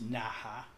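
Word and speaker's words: Naha: can see here's well it's pronounced na ha but the ICAO code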